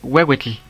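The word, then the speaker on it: huehuetl: Esta se pronuncia como una W. Pero cuando la H está después una vocal, su pronunciación será más como una J. Ejemplos. Ejemplos. Comenzamos con la palabra wewetle, que es un instrumento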